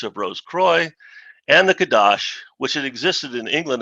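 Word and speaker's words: Kadosh: holy or sacred but more often than not in masonic circles it is pronounced kadash the significance herein is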